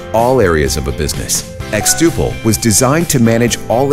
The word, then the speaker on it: xTuple: xTuple rhymes with quadruple and means to grow exponentially.